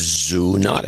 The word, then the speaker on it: zoonotic: that was zoonotic no we we've learned that that is not the way you pronounce it no it's zoonotic yes we have the